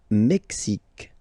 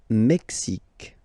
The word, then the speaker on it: Mexique: Le Mexique. Le Mexique. X, X, Mexique. It's really the X. Huh? Le Mexique. And then remember this Q-U-E, it's only K, K.